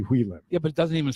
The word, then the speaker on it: Hui Lim: You know, her name is Hu Lim. It's actually Hui Lim.